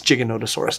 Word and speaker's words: Giganotosaurus: Oh, it's Giganotosaurus, dang it. Can you double check the pronunciation on that one?